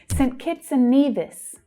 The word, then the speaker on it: St. Kitts and Nevis: St. Kitts and Nevis. St. Kitts and Nevis. So for saint, it's often said quite quickly as St. Kitts, St. Kitson.